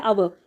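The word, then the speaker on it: hour: back in, फिर है अवर, इस वर्ड में एच साइलेंट है फिर रह गया अवर, तो अवर का इनिशियल साउंड जो है ओ साउंड वावल साउंड, यानी अवर, ये एक वावल साउंड है, इसके साथ एन आएगा,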